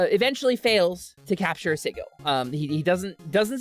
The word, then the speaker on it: Sigil: the center in it's I said sigil for the longest time I was corrected by Chris Perkins it's sigle it's a hard G it's actually true um sigle the city of Doris